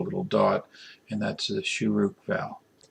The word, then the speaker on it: shuruk: On the left-hand side of the Vav, you put a little dot, and that's the shuruk vowel. The shuruk vowel has the U sound, as in the English word blue, U.